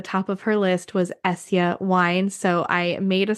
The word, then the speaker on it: Esja: wine maker and owner of essia wines it's spelled esja I first tried Tanya's